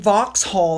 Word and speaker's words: Vauxhall: As patron of the International Students' House, she officially opened the International Students' House in Vauxhall, I believe is how you pronounce it.